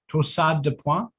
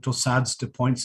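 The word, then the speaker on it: torsades de pointes: Torsades de points, that's the French pronunciation. You can call it torsades de points as well.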